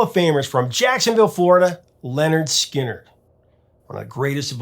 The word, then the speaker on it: Lynyrd Skynyrd: While the band was rehearsing with new material for their debut LP pronounced Lynyrd Skynyrd, Alan began playing his rough music track for the other members to hear.